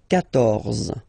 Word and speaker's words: quatorze: So remember Q and U here. Well, basically you get to put this U vowel, because that's the rule in French, even if you don't pronounce it, okay? So you will get the sound K here. K. Quatorze, quatorze, okay?